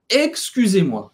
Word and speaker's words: excuse: novo a gente tem o som do U faz a boca do u e fala aí então excuse excuse outra coisa obrigado ou